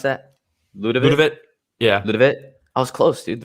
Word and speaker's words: Ľudovít: How do you pronounce that? Ľudovít.